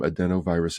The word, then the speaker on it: adenovirus: that's actually got a a pronunciation is a d n o virus so uh for adults over 18 years of age who were suffering from adenovirus infections if you have